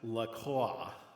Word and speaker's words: LaCroix: I don't know if you've ever had them before, but this is a Target version of LaCroix. It's technically pronounced LaCroix, but I'm not snobby like that.